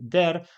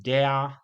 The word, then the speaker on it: der: Tam właśnie są bardzo interesujące wskazówki i w słowie dea czy też tak jak w innych rodzajnikach, które zawierają e, to wymawiamy jako długie. Często słyszę właśnie jako krótkie, często słyszę na przykład der, dem, den i tak dalej, ale to e wymawiane zawsze jest jako długie i napięte, czyli dea, beam, be i tak dalej.